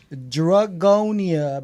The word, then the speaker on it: Dragonia: Dragonia is spelled D-R-A-G. Oh, N-I-A. Hey, you more gotta be you know. Dragonia. Yeah, you gotta let people know because People they gonna be like, drug on?